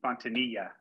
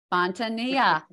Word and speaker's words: Fontanilla: mispronounced that as well the L's are silent so yeah like your knee fontania fontania guys I I should